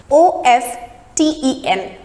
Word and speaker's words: often: One is often, and the other one is often. Often is the British pronunciation and often is the American pronunciation. Now what happens in British pronunciation, we need to drop the sound of T in the word and it becomes often.